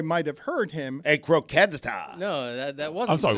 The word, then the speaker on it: croqueta: Actually, a croqueta. The second time was worse. Croqueta. Wrong on 2 counts. You added there. a syllable the first time.